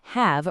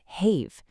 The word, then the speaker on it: have: If that rule is absolute, why on earth doesn't have rhyme with cave? If a student tries to sound out have using the standard magic e rule, they get have.